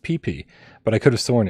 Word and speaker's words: Pepe: I mean, his comment when he put hashtag Gamecat was it's pronounced Pee-Pee, but I could have sworn it was P-E-P-E.